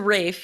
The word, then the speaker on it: Ralph: wickham fines is it not rayfeinz it's a rafe yeah yeah i would say i've i've heard but it's it's spelled that way it's spelled like ralph but